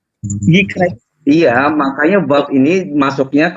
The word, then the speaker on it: Vayikra: Vayikra. Bukan yekra. Beda, brother. Yikra.